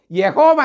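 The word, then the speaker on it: യാഹ്‌വേ: അങ്ങനെ ഇവരെല്ലാം പഠിച്ചു കഴിഞ്ഞപ്പോൾ യഹോവ എന്ന വാക്ക് ഉച്ചരിക്കാൻ ആ അങ്ങനെയല്ല ഉച്ചരിക്കേണ്ടത് യാഹുവേ എന്നാണ് യഹോവ എന്ന് ഉച്ചരിക്കാൻ കഴിയില്ല അവർ സ്വയം വിശേഷിപ്പിക്കുന്നത് യഹോവ സാക്ഷികൾ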